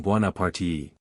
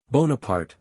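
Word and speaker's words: Bonaparte: the famous General bipart she gives the name a marked Italian pronunciation bu parti Napoleon angrily with the French pronunciation bonapart Madam bonapart the papers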